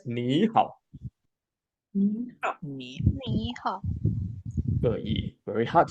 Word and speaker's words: 你好: 很好，很好很好。Again, the three tone 你好 we must read as 你好 Me.